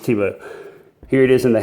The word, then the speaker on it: Tibo: You got the Tops logo here, and here is Tops Tibo, and it is pronounced Tibo.